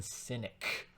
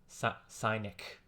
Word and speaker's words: Sinek: York Times bestseller Simon cynic sinic I think it's pronounced cynic but it's not spelled like like diogenes the cynic it's spelled s i